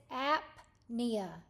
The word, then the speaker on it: apnea: the second one is apnea so you're going going to say the p and the N both but separately so look over these